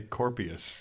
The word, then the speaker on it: Kurpius: Kurpius. How do you say it? I How do you say say Kurpius.